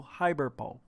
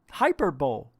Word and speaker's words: hyperbole: exaggerated however but varnim's study indicates this all hyperbole hyper pulley what is it hyperbole it's not hyperbole hyper bowl reality would probably far more mundane watch hold